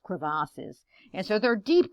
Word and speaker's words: crevasses: these deep cracks it's it's kind of a french term it's uh cravassus you know it's not just crevices it's pronounced crevasses and so there are